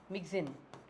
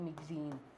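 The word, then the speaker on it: Myxine: जिसको हम बोलते हैं अ मग्जीन मगिन नॉट मगन मगिन पेट्रोमाइजिन को हम क्या बोलते हैं?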